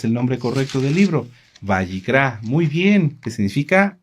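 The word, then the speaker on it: Vayikra: Bayicrá.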